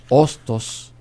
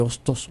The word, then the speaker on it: Hostos: un poco se transforma sabiendo que la H es una letra muda y que según dicen